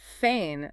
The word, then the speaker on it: feign: But feain completely breaks the rule. It really does. It is spelled fei g- n. The g is totally silent and it's pronounced exactly like the word fain.